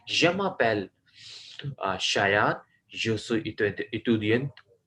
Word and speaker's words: étudiant: Je suis étudiant à la classe du français. À la classe du français. और जो सो इतुदियन, स्टूडेंट को कह रहे हैं एतुदियन, ETUDIENT, इंग्लिश में स्पेलिंग बता रहा हूँ।